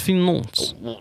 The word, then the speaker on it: Nantes: I mean, FC Nantes, however you pronounce it, they should not No, be it's Nantes.